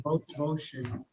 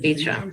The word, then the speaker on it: Beauchamp: It's Beauchamp. Is it? How do you say it? It's Beauchamp, isn't it? Beecham. It's Beecham.